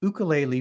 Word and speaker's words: ukulele: ready he's an aspiring ukulele player pronouncing that in the hawaiian way and most importantly a